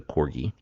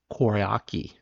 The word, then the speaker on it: Koryaki: very well to the Corgi. Is it Corgi? What did I say? Koryaki. I've been saying it wrong.